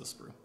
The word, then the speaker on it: sprue: parts what's a sprut this this is a sprue how do you spell it s-p-r-u-e sprue and all the little guys